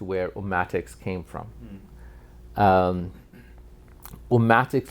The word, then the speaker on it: Ummatics: um came from um omatics literally you could say it it rhymes with politics right and that's sort